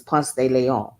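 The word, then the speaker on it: Ponce de León: Now, here where I'm at, there's a street called Ponce de Leon. Well, we say Ponce de Leon. That's how we pronounce it. We say Ponce de Leon, but it's actually pronounced as Ponce de Leon.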